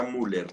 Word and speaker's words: Müller: escribir en el chat así se escribe pero se pronuncia müller listo bueno el diagrama